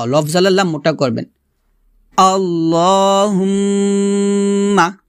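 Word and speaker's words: اللهم: আল্লাহুম্মা, আমার সাথে পড়েন। এখানে দেখুন আল্লাহ বলবেন না, বলবেন ল, লফজাল্লাহ মোটা করবেন। আল্লাহুম্মা, আবার বলেন আল্লাহুম্মা, হুম্মা এখানে অবশ্যই গুণনা করবেন, আল্লাহুম্মা এভাবে।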